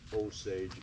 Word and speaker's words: Osage: for 3 000 years the Osage we pronounce it Osage Indians they lived and